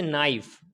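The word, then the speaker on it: knife: इसी तरीके से नाइफ, नाइफ के अंदर भी क्या है, एन से पहले के, ये भी साइलेंट हो गया।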